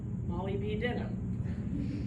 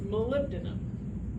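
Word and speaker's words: molybdenum: want to say it Molly B denim that's how you spell it that's how I remember how to spell it I will always say mollyb denim in my head but it's malib denim all right the focal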